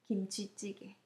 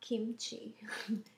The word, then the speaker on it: 김치찌개: It's right pronunciation. 김치찌개. Not kimchi.